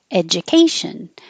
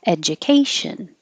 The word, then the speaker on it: education: and we started with education the D and the U make a Jew but you can say Joe because it's not stressed education or education olives it looks like